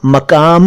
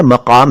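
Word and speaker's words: मक़ाम: और मकाम, मकाम मकाम नहीं है, मकाम है, क के नीचे नुक्ता है यानी बिंदु है, मकाम।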